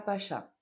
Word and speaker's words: Pacha: Salía a bailar a Pacha. Pacha. C'est la tché. Il n'y a pas d'accent. Pacha.